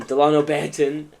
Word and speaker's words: Delano Banton: I always thought it was my fault um Delano Banton uh I think that's you know Blockbuster what